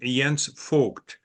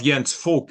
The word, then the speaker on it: Jens Voigt: struggle with the name Yan fol when you pronounce my last name it sounds like the English word for intercourse or making laugh to one another instead of yan folk it comes across more